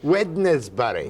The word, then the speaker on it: Wednesbury: called Wednesbury in Staffordshire witness Barry right pronounced Wednesbury that's right they tell me